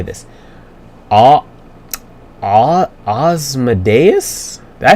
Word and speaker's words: Ozymandias: Okay, Ozymandias.